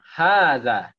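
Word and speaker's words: هذا: Baik hotel untuk ke pengucapan Haza itu hanya ya panjang apa pendek hanya panjang khaza hanya panjang ah jadi walaupun sepertinya tidak ketan ada alifnya tetapi sebetulnya dihaja itu ada alif-ya sembunyi Nanti kalau udah muncul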